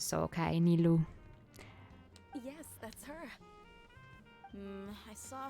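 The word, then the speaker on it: Nilou: to the estate okay the pronunciation is nilu because it's not Japanese so okay nilu yes that's her I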